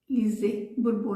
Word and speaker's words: Lise Bourbeau: Do livro das 5 feridas emocionais da Lise Bourbeau. Lise Bourbeau, na verdade, é a pronúncia correta.